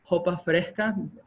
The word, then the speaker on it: sopa fresca: over um there's also sopa fresca or pronounced as local but like hopafe the s is not really pronounced among the locals and this one will